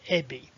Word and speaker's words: Ebbie: course first and foremost my name really is ebby and it really is spelled e-b-b-i-e do you remember a song that